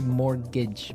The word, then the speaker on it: mortgage: Yeah, it has a T in it, but you don't pronounce it. You say mortgage.